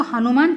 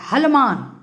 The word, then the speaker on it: हनुमान: कितना व्यक्ति को मैं देखती हूँ कि वो हनुमान नहीं बोल करके हनुमान बोल देता है, हलमान।